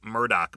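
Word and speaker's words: Murdaugh: Um, Alex Murdoch, or it's actually Alec Murdoch. Most people say Alex Murdo, but it's Alec Murdoch.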